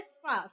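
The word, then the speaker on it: farce: अब इसके सिनोनिम्स होते हैं फार्स, फार्स नहीं बोलेंगे, क्या फार्स नहीं, फार्स, अच्छे से आप प्रोनाउंस कीजिए फार्स। इसलिए मैंने यहाँ पे रॉ नहीं लिखा है, देखिए मैं यहाँ पर रॉ मैंने नहीं लिखा है क्योंकि रॉ का हम प्रोनाउंस नहीं करते, हम बोलते हैं फार्स।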